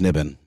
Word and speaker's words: NIBIN: Still pronounced NIBN.